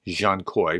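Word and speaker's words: Dzhankoi: told me about this that DZ an K koi is Jean Koy because that's based on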